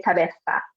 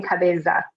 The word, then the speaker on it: cabeza: it is in English you can either pronounce it like a light s sound which is how I